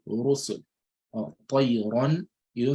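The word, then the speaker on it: رُسُل: So the Ra will be pronounced heavily with a full mouth.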